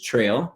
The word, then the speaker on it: Trell: is an alias um my short nickname is tril t r l l although a lot of